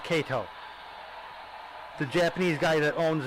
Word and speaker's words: Kato: The nice thing about Kato truck, and that's the correct way to say it, Kato, not Kato.